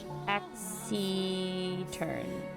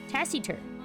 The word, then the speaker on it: taciturn: And you pronounce the C like an S? Oh. Taxi-turn. Like Tassie? Taciturn. Right? Taciturn. I don't know why I said taxi.